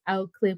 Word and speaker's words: Oak Cliff: from Oak Cliff, Texas, because he said it's Oak Cliff with an apostrophe. You can't pronounce that K, because if you pronounce that K, then he knows that you are not from the area.